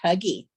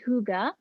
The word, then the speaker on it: hygge: wondered why the um hygge is not pronounced huggy or higgy well it's a danish word i think it sounds